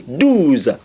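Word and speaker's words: deux: dues not doors please Do's Do's let me how you say Do's a lot of students Make Mistakes by saying does it's not done it's do Do's Do's okay dudes I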